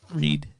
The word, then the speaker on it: Reid: It is the one, the only Storm Feed. Reid.